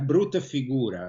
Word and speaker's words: brutta figura: He has done a brutta figura, as they say in Italy, a very bad...